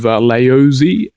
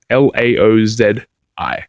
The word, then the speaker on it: Laozi: A guy by the name of Laozi. I think I'm pronouncing that right. I'm pronouncing it phonetically. Laozi or Z-I.